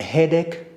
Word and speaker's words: headache: We have headache, so the spelling is A-C-H-E. So CH again is pronounced as K.